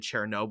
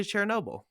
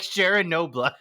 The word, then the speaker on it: Chernobyl: Chernobyl yeah Chernobyl no the first time you said it you were like Sharon Noble Sharon obla you know sure you